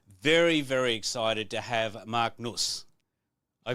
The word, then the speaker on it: Marc Nuss: the studio today very very excited to have Mark NOS I pronounce it right you did it perfectly thank